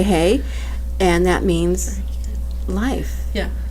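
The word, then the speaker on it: ה: in Hebrew the what letter hey is pronounced with air so you say hey and that means life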